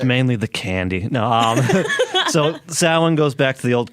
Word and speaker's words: Samhain: but you said happy Samhain? What? It's actually pronounced Samhain. That is the pagan term for the holiday.